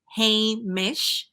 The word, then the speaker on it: Hamish: to me why heish it's a little challenging to say and I can give you the pronunciation it's heish um I said well it